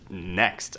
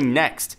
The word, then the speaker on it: NXT: now being reportedly called the NXT probably pronounced just simply next apparently we can expect